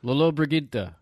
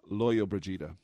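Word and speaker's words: Lollobrigida: To help us with this pronunciation. Lolo Brigida. Can I see it? Yeah, It's either Lolo Brigida or Loyo Brigida.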